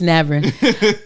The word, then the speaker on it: Navran: I'm saying her last name wrong on her. Navran. It's Navran.